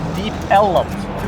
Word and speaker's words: Deep Ellum: So it was originally Deep Elm, and the early residents pronounced it Deep Ellum. So that was done for a number of years, took on a life of its own, and then this area was just officially renamed Deep Ellum.